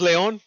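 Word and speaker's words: León: In Spanish, it's Leon. I've called it Leon before, but just kind of like an inside joke with my sisters and shit. That's what we call it actually at home, Leon. But yeah, it's pronounced Leon.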